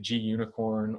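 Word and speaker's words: Gunicorn: pronounced i pronounce it gunnicorn other pronoun people pronounce it g unicorn or unicorn it stands for the g stands for green and the unicorn is unicorn because that is what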